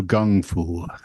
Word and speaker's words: kung fu: fu so some do Gung fu they're Gung Fu and Kung Fu are the same thing no because Bruce Lee does gung Fu well that's because he's pronouncing it from his dialect yes you know why